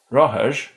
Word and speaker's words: rothair: The distinction for R has been lost at the beginning of syllables, but not at the end, making the difference between bike, roher, and bikes, rohers, for example.